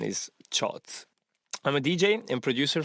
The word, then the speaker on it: CIOZ: is chots but most of the people say CEOs or science or whatever so many people actually get it wrong but the real pronunciation is shot I'm a DJ and producer from Italy and I'm doing this job since 2015.